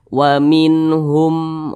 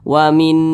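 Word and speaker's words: وَمِنْهُمْ: Maka cara membacanya itu jelas dan juga tidak berdengung. Maka ini dibaca seperti ini. Wa minhum ummiyuna. Dibaca pendek. Jangan didengungkan seperti ini. Wa minhum. Nah, itu salah.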